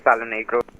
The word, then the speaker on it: Palonegro: I mean, I guess it's pronounced Palo Negro. I mean, Indian simmer here, so not quite sure, but I believe it's Palo Negro. Yeah, that's what it pronounced. Wanted to make sure. The bro say that. I swear that's. Hey, that's how it's pronounced, though.